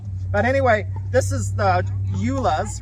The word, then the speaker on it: Joola: But anyway, this is the Joola's, right? Did I pronounce it right?